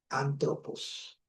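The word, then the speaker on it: ἄνθρωπος: Esto viene a ser el artículo y esto viene a ser el sustantivo hombre y se pronuncia antropos, ¿ya?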